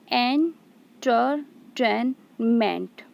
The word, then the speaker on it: entertainment: The word entertainment has four syllables. Okay, entertainment. So here enter, these two syllables are unstressed, ten is stressed, and ment is unstressed.